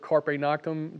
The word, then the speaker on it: carpe noctem: But these people that are the high-level code writers, they have a word, what is it, carpe noctem?